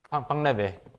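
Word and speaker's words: Painlevé: 수학하시는 분 아실지 모르겠는데 뭐라고 부르나 이거를 발음이 팡레베 첫 번째 이퀘이션입니다.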